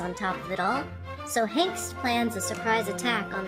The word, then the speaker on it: Hengist: Oh god, his name is actually pronounced Hengist.